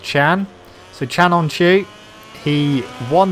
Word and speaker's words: Can: brakes I guess while we're out front we can talk about yesterday's race the finale to the